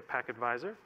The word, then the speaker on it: pktvisor: packet visor project so it is spelled pkt visor but we say pac advisor so this is a